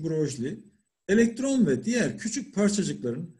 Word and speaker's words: Broglie: Broglie, okunuşu Broglie, elektron ve diğer küçük parçacıkların hem tanecik hem de dalga özelliği olduğunu önerdi.